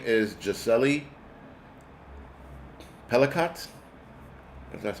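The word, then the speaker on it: Gisèle Pelicot: yes the lady is Right her name is jeli pelot that's that's how you pronounce her name uh he was sentenced to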